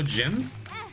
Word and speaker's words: Jimb: people typically call me Jim with a silent B.